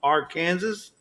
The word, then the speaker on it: Arkansas: spelling as arcane arkansas but there still was a dispute on how to say it okay so that's probably what corn fed was talking about corn fed life when they said that there was some calling it our kansas and some that called it arkansas